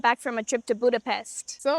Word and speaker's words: Budapest: And they actually don't pronounce it Budapest. They pronounce it Budapest.